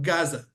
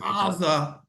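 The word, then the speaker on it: עזה: By the way, like the word aza, okay, is with an ayin, and that's why the English speakers cannot say a guttural ayin. That's why they call it Gaza. Interesting. I didn't realize that. Aza, but there's no ah in English, so it turns out to Gaza.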